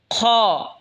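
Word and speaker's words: خ: এরপর এটা হলো খ। খ হলকের শেষ ভাগ হয়তো উচ্চারণ হবে খ।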